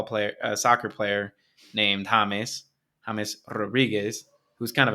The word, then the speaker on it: James: go by James here I go by Hames but it's obviously spelled the same way and they literally pronounce